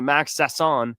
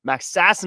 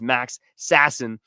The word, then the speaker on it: Max Sasson: And then finally, Max Sasson. Max Sassin, I should say. I got to get the name pronunciation right is Max Sassin.